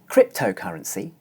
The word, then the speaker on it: cryptocurrency: voiced consonant the sound the in cryptocurrency the diphthong is followed by an unvoiced consonant sound the sound however the diphthong is still pronounced long that's because the word